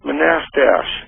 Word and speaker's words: Manastash: Do you know where Manastash? Yeah, it's pronounced Manastash.